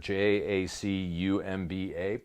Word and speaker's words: Jacumba: Rock on Swamp Thompson, Jacumba, California. It's a Spanish-style name. You pronounce it like jalapeno. That's really weird. Jacumba, pronounced jalapeno.